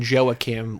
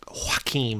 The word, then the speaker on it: Joaquim: Well, they call him Joachim, like they're English and dumb, and they have the nanny who's like Lucia, who's Hispanic, and she pronounces the Joaquim like the proper way, and Regina's just like,